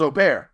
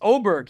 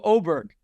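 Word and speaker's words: Åberg: the air it's ludvig oberg and that's what he's going to go by Oar I thought it was Oar no it's oberg he said on the video oberg and that's that's what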